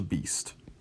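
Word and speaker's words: بیست: the number 20 and this is pronounced exactly how I think that Peyton Manning was the football player at the Beast such a beast beast is 20 like beast mode all right 30 the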